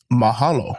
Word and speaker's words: mahalo: Another one that's pretty common or pretty well known throughout the world and that is mahalo.